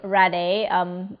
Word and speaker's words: Rhade: Rade. They spell it here Rhade, but we also it's also known as Ede.